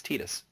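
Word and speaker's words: Tidus: yeah just like uh the guy from tan is not Titus it's apparently it's tetus yep although didn't hear that didn't hear that till Kingdom Hearts although personally I think it should be Titus but that's me all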